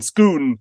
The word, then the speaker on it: Scone: was first installed at scone or as it's pronounced in Scotland schoon yeah the stone of